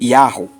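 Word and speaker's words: יהו: a luz da escritura percebe-se que o trigrama é pronunciado como Yahoo Yahoo em português em obstante para ocultar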